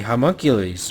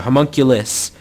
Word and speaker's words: homunculus: uh event coming out with the hunkules right or the homunculus Jesus everyone's correcting my pronunciation of it with the homunculus that came out so